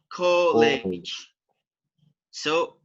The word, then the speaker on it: colleges: College ends with j. One of College. College. So, what is the category? College. Third category. Yeah, category. category, because you add an extra syllable. Okay. Oops. one of our buzzing sounds.